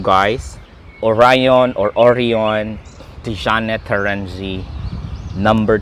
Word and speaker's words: Orion: is made in Italy, so I will pronounce it as an Italian, Orion. Orion. So by it, the American says it is Orion, but it is Orion.